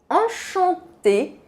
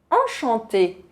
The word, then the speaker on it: enchanté: O feminino e o masculino se escrevem um pouco diferente, mas a pronúncia não muda.